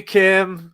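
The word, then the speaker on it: Kh'ym: IM and oh no it's spelled star warsy but it's pronounced Kim no it's k i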